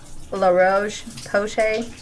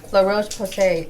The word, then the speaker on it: La Roche-Posay: Um I am a big fan of I always mispronounce this, but it's called La Roche-Posay.